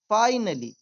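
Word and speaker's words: finally: ठीक है, एंड ही फाइनली, फिनली नहीं बोलेंगे इसे, फाइनली अर्नड, अर्नड यहाँ आर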